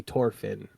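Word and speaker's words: Thorfinn: I think that's supposed to be the actual pronunciation in their language.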